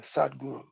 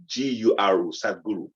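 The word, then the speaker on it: Sadhguru: those that don't um who he is um is spelt s-a-d-h-g-u-r-u yeah sad guru you know so sick seeking out is one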